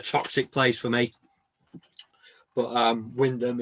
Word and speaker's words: Wymondham: place for me, but Wyndham is absolutely lovely. Lovely little town. you know, a bit like this station on Oh Doctor Beeching, really. We've been there. We went there when we were doing Beeching. It's spelt Wymondham, isn't it?